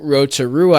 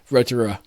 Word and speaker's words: Rotorua: we unplugged and drove the next day to Rotorua, I believe it's how it's pronounced.